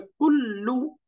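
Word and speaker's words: كل: দেখেন এটা হবে কুল্লু। এই যে কুল্লু, কাফ দম্মা লাম সুকুন কুল, লাম দম্মা লু, কুল্লু, কুল্লু, কুল্লু, এরকম।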